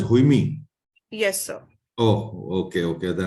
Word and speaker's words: Haime: Okay, it's you pronounce it as Haime.